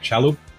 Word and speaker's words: Shalhoub: I say it right, Shalhoub?